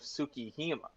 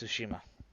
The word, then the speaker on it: Tsushima: You mean Ghost of Tsukihima. You had to pronounce it right. No, it's Tsushima. Nah, it's Tsukihima. No, I, you've I totally I've wrong. seen the words. It's Tsushima.